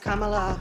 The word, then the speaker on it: Kamala: It's pronounced Kamala.